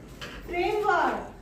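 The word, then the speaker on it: framework: Next is फ्रेमवर्क। फ्रेमवर्क फ्रेमवर्क फ्रेमवर्क इस word में are silent है, इसीलिए हम इसका प्रोनाउंसिएशन नहीं करेंगे। अगर हम फ्रेमवर्क नहीं बोलना है, इसे हम बोलेंगे फ्रेमवर्क।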